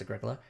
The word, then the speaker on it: Agricola: Agricola, that's pronounced Agricola.